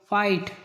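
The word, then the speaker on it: fight: फिर जी एच पाया जाए तो जीएच प्राय साइलेंट होता है हाई फाइट plough फाउट फॉट फॉट माने लड़ा प्लाउ माने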